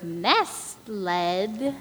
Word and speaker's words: nestled: The children were nestled. Nestled. The T is silent.